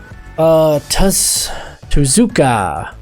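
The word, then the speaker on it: Tuszka: Bay Packers go Derek tests to Zuka I rhymes with bazooka but this guy he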